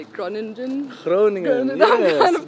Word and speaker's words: Groningen: So you're born in, how do you say it, Groningen? Groningen, I'm yes, kind of close. yes, I looked up those tutorials of how to say it online. Yeah, that's perfect. Yeah, in the Netherlands. Yeah. Groningen in the Netherlands, yes, that's where I was born.